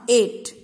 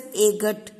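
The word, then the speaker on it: eight: Now 8, E-I-G-H-T, 8. Here G-H is silent. It doesn't, we don't pronounce it as agat.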